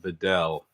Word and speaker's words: Vidal: And for what it's worth, I went to look at Pro Football Reference, and it's pronounced Vidal. So it's even though it's A at the end, it's still pronounced Vidal.